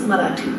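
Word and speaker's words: Marathi: two the language in I was speaking was marati marati ranks 10 in the list of the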